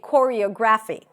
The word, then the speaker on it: choreography: I used to say choreography. Choreography. And every time I would say it, I would get stuck. So for choreography, the primary stress is right before the end.